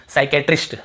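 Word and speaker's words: psychiatrist: क्या पढ़ते हैं साइकोलॉजी ठीक है साइकिक सॉरी साइकेट्रिस्ट ठीक है साइक्र और उसके बाद देखिए साइकोथेरेपी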